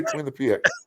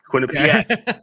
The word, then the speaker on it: Quinnipiac: No, you can't spell it, but you can say Quinnipiac. Quinnipiac.